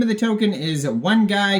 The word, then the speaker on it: 1GUY: of the token is one guy ticker symbol is one guy and that is spelled uh with a one GUI um also goes by